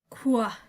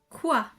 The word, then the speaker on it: quoi: the first question what quoi quoi it's kind of pronounced as if the QU was suddenly a KW it's kind of that sound and here are some